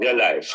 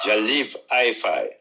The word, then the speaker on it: Jah Live Hi-Fi: Not Jah Life. Jah Live Hi-Fi.